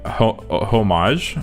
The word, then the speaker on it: homage: like uh yeah like homage. Homage. I say homage even though it's spelled with an H. So because I say with I I don't pronounce the H.